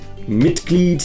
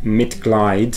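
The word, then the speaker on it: Mitglied: v and families gleed a lot of students would mispronounce that and pronounce it as mit glide which is incorrect and what i always say to students is when e and i go walking the second one does the talking this is the tip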